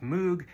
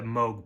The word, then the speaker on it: Moog: And you might be seeing his name and thinking that it's pronounced Moog. And some people in his family did pronounce it that way, but Robert preferred the Moog pronunciation.